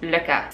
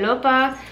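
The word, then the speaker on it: Lykke: Anyway, the correct way to pronounce them, I believe, is LOPPA.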